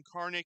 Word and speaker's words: Karnick: Now you know, and Adam Karnick, you hit it right on the head. Wouldn't be German if you didn't pronounce the K. If you're not pronouncing the K, then you're just not doing it right.